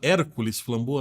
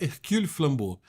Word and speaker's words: Hercule Flambeau: Muita gente fala Hércules Flambeau, né? Então tá errado, né? Mas a pronúncia é Hercule Flambeau.